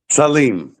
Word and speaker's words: Salim: Saleem. Okay. Well, I apologize for pronouncing because um yeah, and I pronounced